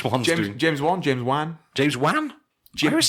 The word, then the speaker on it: Wan: Jam James ju James Juan James Juan I always say James Juan Jimmy Jimmy Juan I I always say it like one yeah okay yeah we